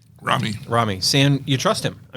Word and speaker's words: Raimi: Rami.